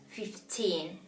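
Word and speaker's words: fifteen: clearly right she said yes 15 is a little bit more in the in terms of pronunciation is stressed a little bit more in the end 15 so we have 15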